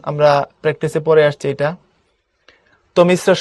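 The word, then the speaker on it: তমিস্রা: তমিশ্রা শব্দের যথাযথ উচ্চারণ হবে তমিশ্রা, এই যে রফলা আছে, সুতরাং দেখো তমিশ্রা, এটা ডাবল হবে, তমিস তারপরে রা, তমিশ্রা।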